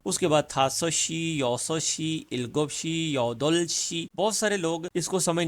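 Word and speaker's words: 여덟: तो ये बोला जाएगा योदल, योदलप नहीं बोला जाएगा, योदल शी कहेंगे इसको।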